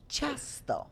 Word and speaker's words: ciasto: Ciasto. Everybody repeats. Ciasto. Ciasto. Ciasto. Smacznego. I think I know. Okay. Yeah, and remember in Polish the accent is from the second syllable from the end.